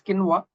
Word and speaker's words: quinoa: all but B is the right answer it's quinoa there is the last and I think everybody